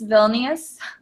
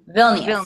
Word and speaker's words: Vilnius: How do you pronounce Vilnius? Vilnius? Vilnius.